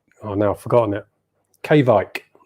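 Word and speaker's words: Kveik: to be pronounced not kyvek k vike v i v-i-k-e they have a k on the front k-bike apparently but i always say kybeck and i think a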